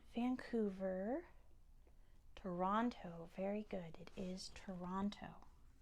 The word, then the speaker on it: Toronto: it's actually not Vancouver Toronto very good it is Toronto is Toronto to Ron to toe Ron like Ron Weasley to number 19 which